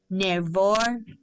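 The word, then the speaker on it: Noevir: In 1991, my friend Rose Carter started me on a line of face products called Nervor from Japan. It's spelled N O E V I R.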